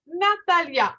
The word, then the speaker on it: Natalija: Alors, c'est Natalia, on l'écrit N-A-T-A-L comme Lima, L-I-J-A. Alors, mais on prononce Natalia.